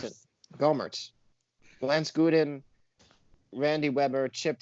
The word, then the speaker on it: Gohmert: Green, Louis Gohmert, Lance, it's Gohmert or Gohmert? I don't want to mispronounce it. Gohmert.